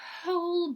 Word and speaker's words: whole: The whole bunch of ice. Whole, первая буква не читается, это целый, bunch это куча, целая куча льда.